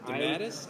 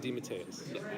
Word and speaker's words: DeMatteis: Well, because it's pronounced two different ways. There's DeMatteis and DeMatteis.